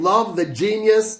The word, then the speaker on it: Love the Genius: Ladies Brunch, the female posse cut featuring Love the Genius, that's how you pronounce that, who I last heard on Conway's Sister Abigail.